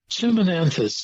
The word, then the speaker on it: Chimonanthus: fits that bill it certainly does go ahead pronounce that botanical name one more time chimonanthus Chim chimy chimonanthus chimonanthus pre winter sweet we'll